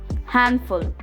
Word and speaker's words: handful: Today we'll learn about a few words where the sound of letter D is silent.